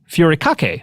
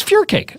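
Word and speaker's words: furikake: I think I mispronounced it last time I talked about it because it looks like it should be furake, but I think it's fur cake.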